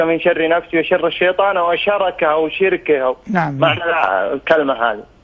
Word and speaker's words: شَرَكِه: هذا على أن الحديث يكون رفضه وشركه بفتح الشاء والراء. وبعض الرواة يقول وشركه، والشرك معروف، والشيطان من أعظم الكفرة بالله بلا ريب، لكن حمله على شركه أو لا، لأن الله عز وجل سماه عدوا، والعدو إنما يحتال على من يعاديهم. فالحديث الأفضل وشركه، هكذا تقرأ أو تلفظ.